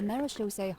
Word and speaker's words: Marechaussee: once played the Marechaussee Hunters. Oh, that's how you pronounce it.